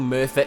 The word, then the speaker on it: Merthyr: It's spelled Cum is no, cum is M-U-R-T-H-U-R. Merthyr. That's how Americans would spell it.